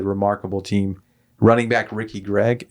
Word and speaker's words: Gragg: Running back Ricky Gregg, it's pronounced Greg, right? Greg. Yeah. It's spelled Gragg, and I don't know this guy.